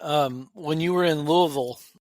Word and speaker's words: Louisville: Um, when you were in Louisville, Louisville, Louisville, and I'm not making fun of it.